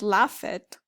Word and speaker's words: laughed: The rest of the verbs are never going to sound ed. They either sound d or they sound t. So for example, laughed and not laughed.